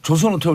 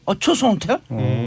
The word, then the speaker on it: 조선 호텔: 사람들은 이 지읒이란 발음이 안 돼요. 그래서 조선 호텔 올 때, 초선 호텔? 초선 호텔 데스까? 이래요. 네. 조선 호텔도 발음이 안 되더라고 일본 사람들은.